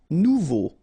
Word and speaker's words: nouveau: Nouveau. Remember, combination of E, A, and U together, it's O. So you get nouveau.